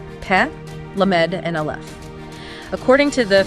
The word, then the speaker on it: Lamed: Now move to the second letter, Lamed, or L-Lu. Notice where your tongue is. Lamed is a lingual letter. It is pronounced with the middle of the tongue striking the roof of the mouth.